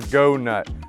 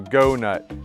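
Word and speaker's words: Goughnut: heavy duty chewers you've got the go nut this is not very well known it's spelled g-o-u-g-h-n-u-t right so go nut you can get this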